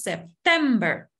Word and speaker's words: September: en el caso de septiembre la sílaba tónica es la segunda decimos september igual en octubre November